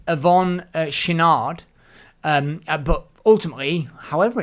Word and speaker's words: Yvon Chouinard: Well, I believe it's pronounced Yvon Chouinard, but ultimately, however it's pronounced, he's the founder of Patagonia.